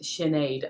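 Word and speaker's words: Sinéad: so my name is sinead and it seems it's literally s-i-n that's how you spell sinead right exactly people always think it must be s-h-i-n but with the irish language it's pronounced shinaid and there's actually a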